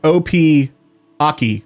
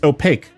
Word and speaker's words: Opaque: I was pronouncing their name like O.P. Aki or something like that. It's opaque. Wow, Anonymous, thank you so much, whoever you are.